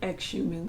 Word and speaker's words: Xiumin: I want to call him Xiumin so bad because of that X, and I was like, girl, the X is silent.